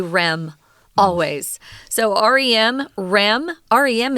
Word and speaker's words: REM: rapid eye movement sleep you likely won't hear Americans say oh my rapid eye movement sleep was very minimal last night I didn't get enough we'll always say REM always so RM REM